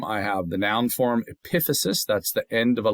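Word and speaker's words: epiphysis: Epithesis, that's the end of the bone. So now the thing top of the bone, epithesis, accent on the second syllable.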